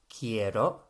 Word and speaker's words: quiero: So I want is quiero, quiero, not quiero as some would have it. QU is pronounced like a K always in Spanish.